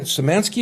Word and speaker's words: Samansky: My guest for this segment is Samansky. Is that how you pronounce that?